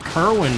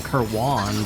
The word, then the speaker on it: Kerwan: In that Kerwin place that I want to keep on calling Kerwan just because of how it's spelled.